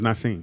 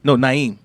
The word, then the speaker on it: Naeem: I thought it was Naseem. No, Naeem. Naeem.